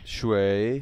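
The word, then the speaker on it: 水: Shui. Shui. Yeah, it's like the third tone. You got to go down and up.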